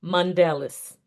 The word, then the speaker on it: Mondelus: So I want our audience to hear the actual pronunciation because it's a little bit French pronunciation and I tried my best. I sure will. My name is Mandelis. Mandales. Mandalis. Yes, ma'am. Okay. Sounds similar to Nelson Mandela in a way.